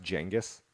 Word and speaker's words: Genghis: And technically it's pronounced Genghis. Yeah. That's Yeah, a weird thing. Like Jenga.